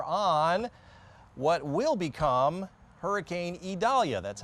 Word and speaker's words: Idalia: We've got blue skies this weekend, virtually sunny here again today, but all eyes are on what will become Hurricane Idalia, that's how it's pronounced.